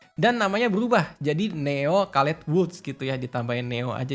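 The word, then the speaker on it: Caletvwlch: Susah ya bacanya Calet Woods, karena tulisannya CALETWLCH gitu, dibacanya Calet Woods.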